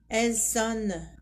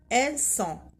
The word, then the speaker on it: elles sont: On ne dit pas ils sonnent, elles sonnent. Non, on ne prononce pas le N. On dit ils sont, elles sont.